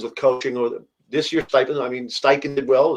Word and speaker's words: Steichen: Or this year, Steichen did well. That is Shane Steichen's how you say it.